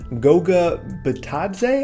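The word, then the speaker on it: Goga Bitadze: it's their draft pick in the first round Goga batad say I'm gonna go ahead and say that's the correct way to pronounce his name based off basketball reference here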